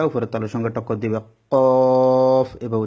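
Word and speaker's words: ق: বরাবর উপরে তালুর সঙ্গে লাগিয়ে দুই নক্তা ওয়ালা কফ জিহ্বার গোড়াটা উপরের তালুর সঙ্গে টক্কর দিবে কফ এভাবে উচ্চারণ হবে কফ এভাবে পাঁচ নাম্বার মাখরা জিহ্বার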